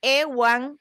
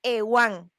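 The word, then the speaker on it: Euan: hacen mezclas y bueno, el apellido Ewan, que es como se pronuncia el mío, porque si hay una peculiaridad, originalmente el apellido totalmente de la influencia maya, viene escrito, se deletreó de esta manera, E-U-A-N, únicamente cuatro letras, y se pronuncia Ewan.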